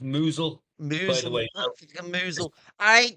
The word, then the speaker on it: Mousehole: Kingston bag po mousehole chipping non that's pronounced that's pronounced moozle by the way mle.